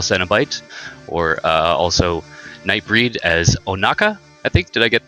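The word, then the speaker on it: Ohnaka: He is best known for his works in Hellraiser as the Butterball Cenobite, or also Nightbreed as Onaka, I think. Did I get the pronunciation on that correct?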